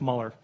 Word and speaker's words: Mueller: investigation by the way it's spelled Mueller but it's pronounced Muller Bob Muller and it pains me